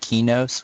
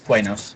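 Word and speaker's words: Qeynos: So people insist that we call it Kinos, which I will never do. I don't care. It's Quanos. Yeah, It is I'm Kanos. yeah. Sony says it wrong. All right, we say it right. How does Sony say it? Kinos. Oh, okay, so I say it wrong. I call it Kanos.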